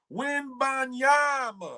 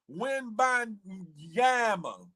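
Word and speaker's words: Wembanyama: Wimbanyama. All I know is look the last part of rhyme with Bama. What? Wimbanyama.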